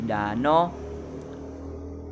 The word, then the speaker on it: danau: Contoh lain, kalau menjadi kalau, danau menjadi dano, sate menjadi sate, damai menjadi dame.